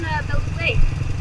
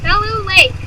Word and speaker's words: Bellow Lake: You live on Bellow Lake. Where? On Bellow Lake. On Level Lake. Belu Lake. Bellow Lake. Belu Lake. It's right It's right back there. It's pronounced Bellow.